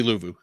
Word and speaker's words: Luvu: wrong all the time is it Frankie louu louu okay it's the a that confuses me does he it's luvu yeah okay thank you Malcolm